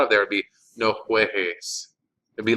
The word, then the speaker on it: juegues: The negative command forms of verbs that end in GAR are spelled with a GU instead of just a G to preserve that hard G sound.